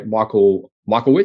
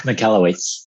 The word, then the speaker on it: Michalowicz: And for you guys that are not familiar with Profit First, it's a book written by Michael Witz. Is that how you say it? Mike Michalowicz.